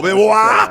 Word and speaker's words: Belvoir: A gente sabe a pronúncia, Se fosse o nome francês, a gente pronunciava em francês, mas é Belvoir mesmo.